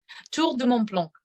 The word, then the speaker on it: Tour de Mont Blanc: listeners out there, that my heavy American accent, I do not do justice to the Tour de Mont Blanc. You pronounce it much better. Say it one more time for us. Tour de Mont Blanc. See, that's just a lot. That's a lot better sounding than the way I said it.